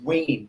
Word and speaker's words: Wene: then pronounce your last name so i don't mispronounce it it's wayne w w wien wsw so